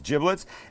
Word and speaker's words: giblets: the bag of giblets and that's how it's pronounced not giblets it's giblets and in here would be liver would be